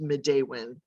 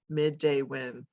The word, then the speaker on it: Midewin: what is the name first of all it's pronounced midday when midday when um and it was a name that was